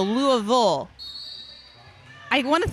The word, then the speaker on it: Louisville: Lua it's for Louisville I've got a pronunciation guide guide It's Lou so Louisville I want to say